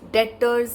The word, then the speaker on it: debtors: it what our debts debtors the other debtors it is now here B is silent okay de BTS yes